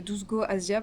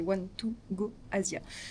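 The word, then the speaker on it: 12Go Asia: one to go Asia qu'on prononce-nous les français 12 go Asia parce que c'est écrit 12 Go Asia mais c'est one to go Asia.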